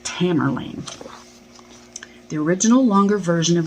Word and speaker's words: Tamerlane: Anyway, going to read the first poem, and it's called, oh, I said Tamburlaine, didn't I? It's just Tamerlane.